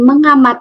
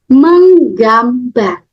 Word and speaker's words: menggambar: kedua meng ngamar Oke Bukan Ya bukan mengamar tapi menggambar menggambar coba lagi meng